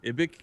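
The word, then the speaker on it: IBIKS: I recently learned I've been saying the Planetary Fortress cannon name wrong for like a year. Photon Overcharge? No. Like the Planetary Fortress cannon is called the Ibic cannon. I always thought it was the ICB cannon.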